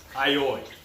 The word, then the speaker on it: olio: What I love about olio, which in South Philly we pronounce aioi. That's how I grew up pronouncing it, and that's how most people around here pronounce it.